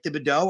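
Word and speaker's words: Thibodeaux: I mean, I don't think Kayvon, I don't pronounce it right, Thibodeau, I believe is how you say it.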